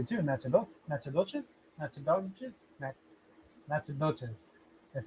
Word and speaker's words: Natchitoches: Nat- Natchitoches. That's how it's pronounced, but it's spelled n a c t c h t a d o g easy. Natchitoches?